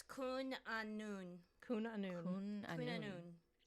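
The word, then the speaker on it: Cwn Annwn: Apparently it's Kun Anun.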